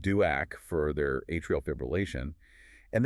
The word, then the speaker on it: DOAC: has a direct oral anti-coagulant pronounced duac for their atrial fibrillation and they come in needing a valve and the conversations that follow are just critical.